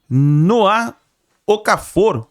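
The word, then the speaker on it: Noah Okafor: A gente viu aí a imprensa esportiva falando sobre Noá Ocafor. pouca força. Suíço, é assim que se pronuncia o nome dele, o jogador suíço que atualmente estava jogando no Napoli, emprestado, né, pelo Milan.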